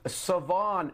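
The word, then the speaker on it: Shavon: going to go with Savon Revel by the way there's an H in it it's not pronounced so at of East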